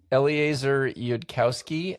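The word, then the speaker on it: Eliezer Yudkowsky: This book was written by two people whose names I will probably mispronounce, but I'm going to try. That's Eleazar Yudkowski and Nate Sores.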